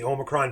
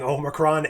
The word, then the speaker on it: Omicron: how to pronounce it everyone was saying homicron or omnicron or whatever I always went back to Futurama's way of pronouncing Omicron as the way to pronounce it so it's kind of